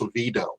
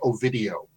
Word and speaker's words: Oviedo: outside of Central Florida, nobody knows how to pronounce Oviedo. They kept calling it. 20th Century Fox rep called it Ovidio.